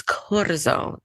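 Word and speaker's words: Corazón: I was telling her I had to say it sounds like cortisone, but it's Corazone.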